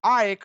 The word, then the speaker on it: AEK: playing at home against AEK Athens or Ike Athens how the Greek the Greeks are saying interesting match both were